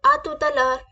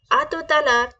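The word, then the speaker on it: à tout à l'heure: break करके बोले please break करके आराम से प्रोनाउंस प ध्यान दें कैसे बोलेंगे आ तुत लर आ तुत लर आत लर आ तुत लर नेक्स्ट वर्ड इज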